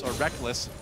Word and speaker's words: Reckles: Technically, it is written Reckles. Yeah. It is. You spell it phonetically. All the way back in his first major tournament, IPL 5, the Reckles and Reckless debate was in full swing. I still want to call him Reckles, but I've just gotten so used to calling him Reckless because he says so.